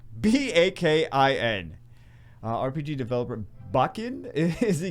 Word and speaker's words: Bakin: RPG developer Bacon. It's not spelled like bacon. It's B-A-K-I-N.